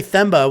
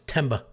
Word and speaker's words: Themba: Picks I can't say themba without thinking I have like a swollen tongue or a lisp somebody said the answer is silent no I think the H is silent it's temba anyway AJ Fletcher hardcore